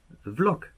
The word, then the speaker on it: Vlog: Habe dann nochmal ein paar amerikanische Videos geguckt und eigentlich wird es immer gesagt Vlog. Ja, also man schreibt nicht mit V, sondern wie ein W halt, wie ein Englisch halt, Blog.